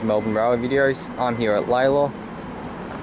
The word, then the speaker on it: Lalor: videos i'm here at laila or lola that's how it's pronounced by the metro announcements lady sorry that's what i'm